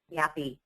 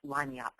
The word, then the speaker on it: lagniappe: Or no, what your staff will say is, what is yappy? It's actually a French word pronounced lagniappe. It's a Creole word, and it means a little something extra.